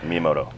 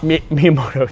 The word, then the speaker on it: Miyamoto: me in Twitter for not being able to pronounce Japanese names. So you correct me on the fly here. Miyamoto. Miyamoto.